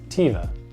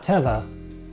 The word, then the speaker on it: Teva: be really confusing but it's pronounced Teva not Teva pativa next we have